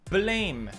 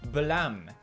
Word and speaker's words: Blame!: Blame, or should I say blam? Excuse me, it's pronounced blam after the sound of the gun.